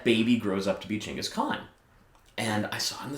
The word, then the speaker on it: Genghis Khan: nerds like me but genghis khan is a mispronunciation it's pronounced chingus khan because the that hard g does not appear in the mongol language and it's not even